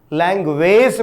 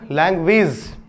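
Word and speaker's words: language: लैंग्वेज मत पढ़िएगा, लैंग्वेज। जी हां दोस्तों, फिर से थोड़ी सी उच्चारण की बात कर ही लेता हूं, रोक नहीं पा रहा हूं अपने आप को। यदि किसी शब्द के अंत में AGE मिल जाए तो आप इसे क्या पढ़िएगा, इज पढ़िएगा। तो अब आप पढ़ के देख लीजिए, लैंग्वेज। ठीक है, इसी प्रकार से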